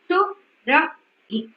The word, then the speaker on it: Surabhi: For example, my name is Surabhi, right? Surabhi. Surabhi. If you can see, my chin is dropping 3 times. So it has 3 syllables.